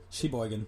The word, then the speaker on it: Sheboygan: It's she, and then it's the word she, and then boy. So like girl, boy, and then gan. Sheboygan.